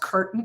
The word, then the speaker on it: Curtin: I have a weekly email, and it's called Curtin Call, which is a play on my last name because, my last name has no A in it. So I spell it Curtin like I spell a curtain call.